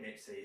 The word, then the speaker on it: MXQ: Just say just say Mixie. It's all right.